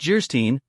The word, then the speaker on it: Geierstein: it for sale and of geierstein pronounced jerstein or the maiden of